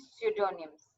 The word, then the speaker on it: pseudonym: examples is synonyms and pseudonyms they're the P is silent pseudonym the second one